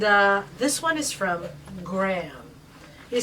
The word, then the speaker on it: Graham: it sound australian and it's not graham it's graham graham we pronounce it properly over there good evening